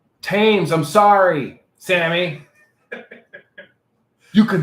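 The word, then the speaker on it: Thames: wake up so from apparently the age themes is silent tames i'm sorry sammy you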